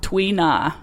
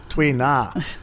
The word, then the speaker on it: tuina: Tuina. How do you say it? Tuina. Tuina.